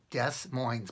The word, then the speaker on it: Des Moines: weird thing is that in Des Moines Iowa it's spelled des MO i n es des moines but it's pronounced des moines because it's French apparently